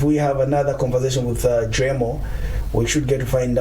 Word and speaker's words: Driemo: Which one is the correct pronunciation? Driemo.